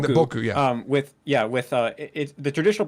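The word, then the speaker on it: 僕: Like, for example, boku is used with two different pronunciations, boku and boku. And boku is the traditional pronunciation.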